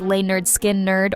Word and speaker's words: Lynyrd Skynyrd: sure they'll never recapture the raw magic of pronounced lay nerd skin nerd or second helping but maybe that's the point